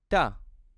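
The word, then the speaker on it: ت: Now, let's move to the next letter, which is Ta. Ta. Again, it looks like a plate shape with the 2 dots above. Like the English letter T in the word table, it's exactly the same pronunciation.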